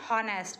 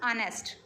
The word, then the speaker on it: honest: An honest man, don't pronounce it honest, it's a honest, honest. It start when H is a silent, then the word starts with O, because हम H को